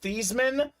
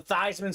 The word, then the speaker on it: Theismann: was actually pronounced Joe theseman uh they had him change his name pronunciation to Theisman so they can promote Theisman for the Heisman JSA certified Jack Emery